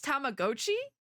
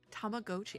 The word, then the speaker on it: Tamagotchi: Wait, it's Tamagotchi? No. I've been saying it wrong my entire life. I guess, no, that would make sense because Tamago.